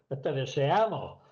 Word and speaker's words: deseamos: deseamos el acento tiene que estar en la A, no en la e como lo ponemos.